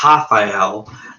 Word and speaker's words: Rafael: Yeah, well, he's from Brazil, and in Brazil, as I was told, they don't pronounce the R as an R. They pronounce it as an H. So his name is actually pronounced Rafael, and I believe it